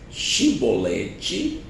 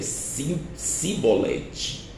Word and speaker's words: Chibolete: ele não então ele dizia disse pois chimbolete porém ele ele dizia simbolete porque eu não podia pronunciar assim bem então pegava dele e